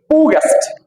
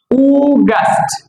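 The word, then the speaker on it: August: এইটা হচ্ছে গিয়ে উগাস্ট। এটা কি হবে? উগাস্ট। এই উচ্চারণটা আমরা বেশি বল।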